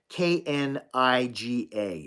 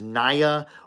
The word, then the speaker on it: Kniga: to my best understanding, Oleg Niga's name is pronounced Kniga. It means like book. It translates to book, and it's Niga. I think for years I thought it was Naya or Niega, but to be honest,